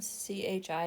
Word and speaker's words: chi: CHI is pronounced chi.